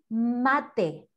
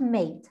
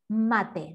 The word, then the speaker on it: mate: everywhere so this is called mate not made mate that's the white the